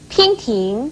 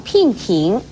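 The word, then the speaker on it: 娉婷: 美而言，所以娉婷不可以念成聘婷，而驰骋也不可以念成驰聘。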